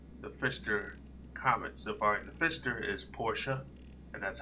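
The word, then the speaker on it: Pfister: The Fister is Porsche, and that's how you pronounce it.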